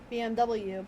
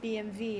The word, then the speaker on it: BMW: Yeah, so the Germans pronounce their W's with a V.